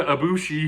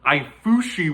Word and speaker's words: Ibushi: But KUDO and a young Kota Ibushi, who at that point we didn't know the proper pronunciation of his name. We didn't know if it was Ibushi, Kota Ibushi, Ifushi with an F.